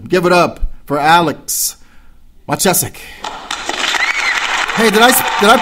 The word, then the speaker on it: Machacek: click on that and they can hear me pronounce it correctly. Machacek. Machacek.